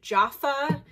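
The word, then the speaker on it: Jafa: It is a pair of these Jaffa, I think that's how you say it, J-A-F-A, platform sandals.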